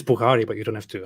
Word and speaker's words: Bukhari: it called the sye bukhari how do you pronounce it here this that's how you book oh wow oh okay it's bukhari but you don't have to how many yeah